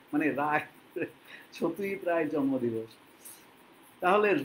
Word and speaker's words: সত্যজিৎ রায়: তাহলে গল্পটা শুরু করছি আর আমি ওই সাটিয়াজিত রে এরকম ভাবে আমি বলবো না ওটা ওদের উচ্চারণ আমি ওরকমভাবে বলবো না যারা বাংলা জানে না তারা ঐভাবে উচ্চারণ করে সত্যিজিত রায় যারা হিন্দি ভাষী তারা হয়তো বলবে সত্যিজিত রায় অসুবিধা কি আছে তারা ওইভাবেই বলে আমরা বলি সত্যজিৎ রায় আজকে কালকে ছিল মে